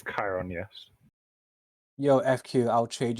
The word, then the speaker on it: Chiron: Eris, Arthur, Heracles, Talos, Beowulf, Hades, or Chiron? I think that's how that's pronounced. It's Chiron, yes.